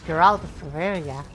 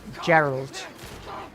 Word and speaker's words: Geralt: It's Geraltia. I can actually pronounce it correctly. It's Geralt, not Gerald. Geralt. Gerard. Gerard. No, not not Gerard.